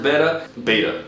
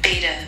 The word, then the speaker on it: betta: Betta fish. All right. Fish. Okay. Betta. Betta. That'd be not it. Betta. It looks like you can pronounce it betta or betta, so I'm gonna stick with betta.